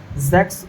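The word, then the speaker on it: sechs: तो आपको पता बताए थे कि सिक्स को सेक्स बोला जाता है। सिक्स को क्या बोला जाता है? जेक्स बोला जाता है। एस सी एच ई एस।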